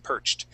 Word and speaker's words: perched: gray hard hat perched okay so we're gonna use an a t ending here on perched okay yeah gray hard